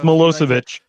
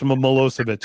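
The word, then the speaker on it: Milošević: I say it it's mosovich yeah that's the big one it's it's spelled so different than it sounds but it's mosovich it's the one that sounds familiar but doesn't look it yeah uh that's again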